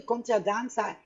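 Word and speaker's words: contradanza: And conte a danza sounds like a cross to the dance, but actually conte a danza is a Spanish mispronunciation of the English country dance.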